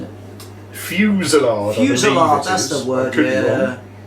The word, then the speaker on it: fusillade: fusado, you're not pronouncing it. Fusillade.